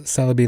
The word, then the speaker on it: Celebi: lot of puns portmanteaus celebi like celery rangaroo like orangutang plus